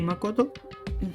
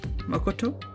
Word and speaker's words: Makoto: I'm trying to get the tea correct. It's like slightly off from both the way I would pronounce it in like Marati Hindi type T and obviously in English.